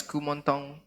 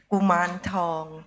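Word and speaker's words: Kuman Thong: You might know him as Kumontong or something like that. I don't know how to pronounce it. Mum, you do it? Kuman Tong.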